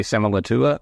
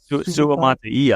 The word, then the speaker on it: Suamataia: Kingsley Semalatua? No, I just butchered that. Suamataia, I believe.